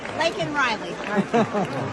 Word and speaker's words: Laken Riley: Laken Riley.